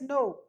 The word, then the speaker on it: know: So we don't say as know, we pronounce it as no.